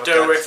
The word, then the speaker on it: Dourif: Brad Dourif, that's how you pronounce it.